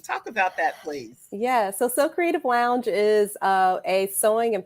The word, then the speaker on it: Sew Creative: We've got next the co-owner of So Creative Lounge. Her name is Cicely Habimana. Sew is spelled S-E-W.